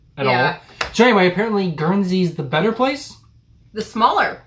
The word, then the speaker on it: Guernsey: taking a look into another british isle called guernsey that's how you pronounce it yeah when you pronounce it anyway